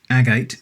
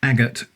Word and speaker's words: agate: I happen to know, for example, that the word agate is pronounced agate in the place where I live, not agot as it might be in other parts of the world.